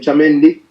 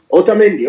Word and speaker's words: Otamendi: Romero, we have, I can't say that name, Chamendi. Otamendi, oh, Otamendi. Otamendi. Yes. And some of these names I can't pronounce.